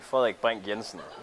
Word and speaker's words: Frederik Brink Jensen: The name I would present something like Frederik Brink Jensen, pronounced in Danish.